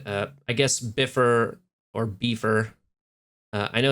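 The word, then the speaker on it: Bifur: uh wubitae and uh I guess biffer or beefer uh I know it's pronounced biffer but B for sounds cooler on um a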